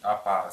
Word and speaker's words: апар: одной буквой п а уносить апар с двумя апар буква ч точно такая